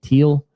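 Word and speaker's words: Thiel: Teal Teal. T H I E L. Um, I know Peter Teal, the investor tech guy, it's pronounced teal spelled the same way.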